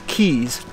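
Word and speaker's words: Keyes: now is called battery kai's spelled k-e-y-e-s which some people might pronounce keys but i knew a guy one time by the last name of k-e-y-e-s it was pronounced kai so anyway that's what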